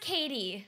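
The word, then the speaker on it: Cady: Please welcome Caddy. It's pronounced Katie.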